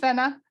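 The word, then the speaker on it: Fenna: so the premise of the story so it's pronounced Fenner the the pretty planet yes so she's a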